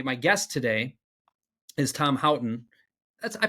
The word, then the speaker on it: Houghton: um uh my my guest today is Tom hton that's I pronounced that correctly yeah you did Crush good